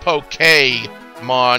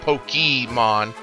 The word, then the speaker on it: Pokémon: As you know, Pokémon, it's actually pronounced Pokémon, not Pokémon.